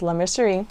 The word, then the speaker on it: La Mercerie: I always want to say it wrong, but I know it's La Mercerie.